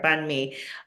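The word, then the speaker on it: bánh mì: the the Vietnamese word bunme uh everyone was mispronouncing in different ways because it's spelled b a n hm I so it's a little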